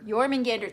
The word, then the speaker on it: Jormungandr: Eating and gnawing at the roots of Yggdrasil, we have Jorminger. Damn it. I don't know how to spell it, but I should probably spell it for you, at the very least.